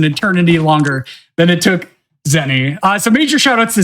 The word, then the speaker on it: Xeni: I don't know how long that took me, but I imagine it was an eternity longer than it took Zenny.